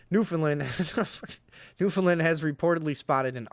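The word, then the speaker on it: Newfoundland: user from New Foundland how do you say that somebody tell me in there is it new you really say it like New Foundland or is it like Newland yeah that's what I thought Newland nin has reportedly spotted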